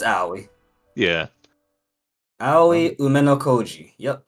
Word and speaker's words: Aoi: Yeah, it's Aoi.